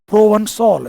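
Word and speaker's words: Provençal: की, वहाँ के जो प्रोवंसॉल, इसका प्रोनाउंसिएशन ध्यान सुनना, इट्स a French word which is यूज for southern France, जो दक्षिणी फ्रांस है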